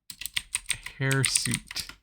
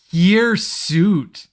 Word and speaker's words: hirsute: Hairsuit. Hirsute. H-I-R. I was way off with like the Harrier thing. Cause like I assumed that like that's why the Harrier was called a Harrier. So it's pronounced hirsute. Hirsute. The word is pronounced hirsute.